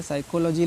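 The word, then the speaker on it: psychology: आपको ध्यान रखना है साइकोलॉजी लिखा है या साइकोथेरेपी लिखा है ठीक है अगर कहीं भी एस से पहले पी आ गया है तो पी का प्रोनाउंस आपको नहीं करना है बिल्कुल भी नहीं करना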